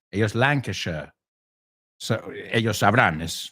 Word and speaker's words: Lancashire: Well, americanos dicen Derbyshire, ellos lo pronuncian shire, Derbyshire. So they're Lancashire, nosotros Lancashire, ellos Lancashire.